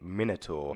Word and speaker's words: Minotaur: I just want to say Minotaur, 100% the correct way to say it. Minotaur.